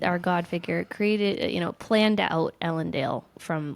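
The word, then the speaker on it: Elendel: Okay, the way I hear you pronounce it has a long A, Ellendale. And I like that so much better than Ellendale, which is, the short A that happened.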